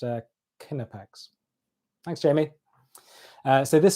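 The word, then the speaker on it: Knipex: Jamie Jamie Reed has helped me out is pronounced uh kinnipex thanks Jamie uh so this stuff is pretty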